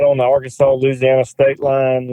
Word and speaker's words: Louisiana: Probably might live as a crow flies, maybe 2 miles from Louisiana, Okay.